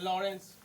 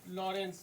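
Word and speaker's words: Lawrence: इसको ठीक से प्रोनाउंसिएशन करना है, लॉरेंस। लॉरेंस है ना, लॉरेंस। DH लॉरेंस।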